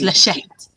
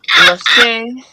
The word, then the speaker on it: Lachette: It's Lachette. Yeah. And in my description, don't attempt to pronounce it like it's French, because it's not. Lachette. or Lachey.